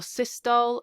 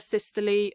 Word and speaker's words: systole: it, atrial systole or systole, and ventricular systole or systole. Different people pronounce it different ways, but it means the same thing.